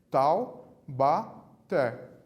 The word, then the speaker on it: Taubaté: mas faremos de novo tal bater sílaba tônica na última a até sílaba tônica da última o acento também dica isso se a sílaba tônica é a última são palavras oxítonas a última sílaba tônica